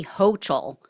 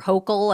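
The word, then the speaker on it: Hochul: about New York Governor Kathy hoel or hokel I think is how you pronounce it um and what she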